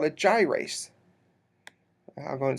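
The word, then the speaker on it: gyrase: it's a little different and it's called a gyas go and spell that one because it's not in your book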